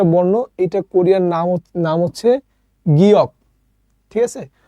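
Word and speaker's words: 기역: এটাও কোরিয়ান একটা বর্ণ এটা কোরিয়ার নাম হচ্ছে গিয়ক ঠিক আছে তো আপনার ওই গিয়ক নিউন এটা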